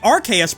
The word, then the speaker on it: Arceus: The RKS pronunciation is a reasonable possibility because the K sound could come from chaos in that case.